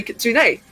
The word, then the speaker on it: kitsune: in a voice chat, I heard Draki say Kitsune. And I asked, like, oh, is that how it's supposed to be pronounced?